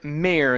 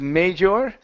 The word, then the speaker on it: mayor: all right let's uh let's try the word Mayor instead of major okay it's only May mayor mayor okay very nice okay